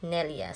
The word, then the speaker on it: neljä: When you say 4 in English, in Finnish, it's Nelia. Nelia, kasi yung G nila dito na jar, guys, it's Y yung pagbasa. So, instead Nelja, pagbasa dito, Nelia.